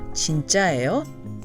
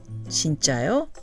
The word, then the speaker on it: 진짜예요: being fake or knockoff, you must use the non-contracted form 진짜예요, 4 syllables, 진짜예요, not 진짜요, 3 syllables.